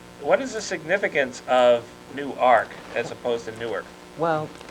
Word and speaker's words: Newark: We were fooling around with the pronunciation of your home base, and some people are saying Newark, and then in the poem it popped up as Newark.